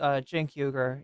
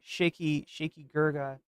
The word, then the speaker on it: Cenk Uygur: And that's apparently how he pronounces Cenk Uygur, Shaky Gurga.